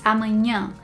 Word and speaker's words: amanhã: people say amanhã amanhã instead of saying amanhã with your nose and one thing that I tell my husband to practice all the time is pinching his nose and trying saying it with his nose pinched and he kind of gets it but I think the best way is to train yourself to make the sound with your nose not with your throat. So, it's not amanhã, it's amanhã comes from up here.